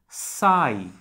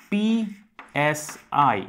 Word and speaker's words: psi: And if we solve this equation, what we end up getting is this psi. This is a Greek symbol pronounced as PSI, psi, which is a function